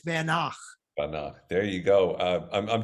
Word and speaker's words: Van Gogh: wow very good because it's not pronounced Van Gogh it's vanak there you go uh